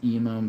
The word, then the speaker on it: Eman: My name is Eum, but it's spelled Eman.